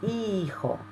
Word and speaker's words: hijo: El hijo. Don't pronounce that H.